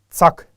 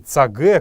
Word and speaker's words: цаг: Именно цак, а не цаге, как многие сейчас произносят. Мы ведь не говорим стуле, столе, маркире. Это как-то звучит даже смешно, но почему-то в своем родном языке мы позволяем и дозволяем себе неправильно произносить слова. Правильное звучание слова «время» — это цак.